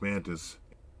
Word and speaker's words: Mantix: So it's pronounced Mantis.